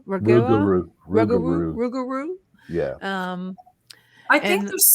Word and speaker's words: Rougarou: How do you pronounce that? Ragua? Rougarou.